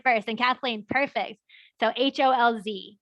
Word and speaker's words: Holz: So HOLZ, because that Z, remember, is pronounced like a TS.